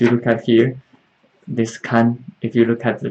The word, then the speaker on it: 看: But here you notice I wrote 看 first tone. First tone. Am I wrong? No, actually, for this character there are two ways to pronounce it. 周末我要看孩子。If you pronounce the first tone, this 看 means not means look at. Means look after.